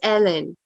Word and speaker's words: Helen: she says it it's it's spelled Helen but she doesn't pronounce it that way it's oh I think you got it I think you got yeah yeah excellent no it's Ellen oh yeah yeah okay